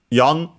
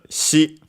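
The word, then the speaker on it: 四: In this case, uh uh we use instead of the Chinese reading the Japanese one uh yon because the Chinese reading is she which is the same as the Chinese pronunciation, the Chinese reading for the character of death.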